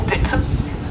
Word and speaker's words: Dittisham: you can see the village of Dittisham there in the distance, or Ditsham as it's pronounced locally.